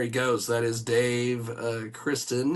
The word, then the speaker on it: Christen: That is Dave Christen. He is I don't want to say Christensen because that's not that is not the proper pronunciation for sure on that.